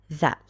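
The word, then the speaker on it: ثاء: aware of a point this th like the word think because you know there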